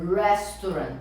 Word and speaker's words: restaurant: Aqui é a pronúncia do R no início da palavra. Então a gente fala restaurant. Restaurant. Ré. Não é ré. Ré. Re. Se fosse ré, restaurant começaria com H, né?